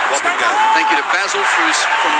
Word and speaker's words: Taukeiaho: By the way, that Lake Taukeiaho, it rhymes with stop and go. So, it's Lake Taukeiaho. Taukeiaho.